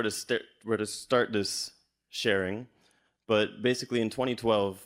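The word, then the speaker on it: Thoth: named th all right actually originally pronounced tote tote thank you for that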